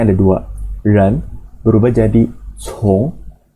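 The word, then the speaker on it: 从: Ren berubah jadi cong, bacanya berubah, artinya menjadi mengikuti atau follow.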